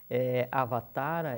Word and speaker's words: Avatara: Avatara é um termo sânscrito, e a pronúncia correta é Avatara, com o A do tá, com um tio.